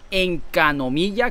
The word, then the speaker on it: Enkanomiya: Entonces la mecánica va a ser parecida, donde van a meter una zona que se llama Encanomilla, creo que se pronuncia así, Encanomilla.